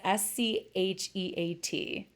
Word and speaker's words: Scheat: pronouncing this right, but a lot of astrologers like to call it Scheat. It's Scheat. And some astrologers have joked that it is kind of like how it sounds.